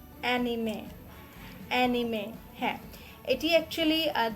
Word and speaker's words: anime: say a word no this is not enemy or an i'm it should be anime anime it is actually